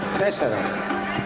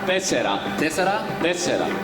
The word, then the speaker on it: τέσσερα: How do you say four in Greece? Τέσσερα. Tessera. Tessera?